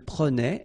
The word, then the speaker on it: prenait: Je prenais, tu prenais, il prenait, elle prenait, nous prenions, vous preniez, il prenait, elle prenait. Okay? So remember that in that case you will have to really pronounce the E like a E, prenait.